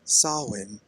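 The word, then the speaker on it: Samhain: chance to get it back will be during sawin when the shadow Market opens and Magic folk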